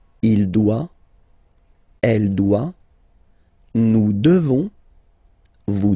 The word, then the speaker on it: devons: You just pronounce this on, O-N, this nasal, okay? And then the S, final S is not pronounced. Nous devons, nous devons, okay?